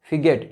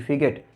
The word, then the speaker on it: fidget: फिगेट, यहाँ पे D silent है, FIDGET, फिगेट।